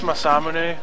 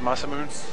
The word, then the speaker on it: Masamune: mamun for like years it's masamune but uh I always said masam cuz that's what it looks like hates it yeah oh